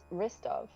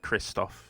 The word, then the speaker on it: Christoph: s t o t-o-p-h oh i heard ristov r-i-s-p-o-v i was like what no no kristoff like the russian but bratty american instead for some bizarre